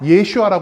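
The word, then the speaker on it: ישוע: 히브리어로는 뭐라고 부를까요 히브리어로는 예수를 여호수아 부릅니다 여호수아 예슈아 부르는게 보이 바로 히브리어 예수의 표현이고 그리고 헬라어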